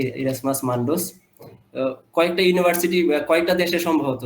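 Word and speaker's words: Erasmus Mundus: আর sir masters করেছিলেন একটা joint একটা প্রোগ্রামে, এরাসমাস মেন্ডাস, উচ্চারণটা মনে হয় একটু ইয়ে, যাই হোক। মন্ডুস। হ্যাঁ হ্যাঁ, ইরাসমাস মান্ডোস।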